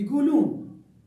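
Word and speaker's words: يقولون: کو بھی چھاڑ دیں، یقولون یعنی اس لہجے میں بولتے ہیں کہ سمجھ میں ہی نہیں آتا کہ اس نے یا کا تلفظ کیا بھی ہے یا نہیں، لیکن وہ یا کا تلفظ کر جاتا ہے لیکن وہ کسی کو محسوس ہونے نہیں دیتا. اس کی فصیح کیا بنے گی؟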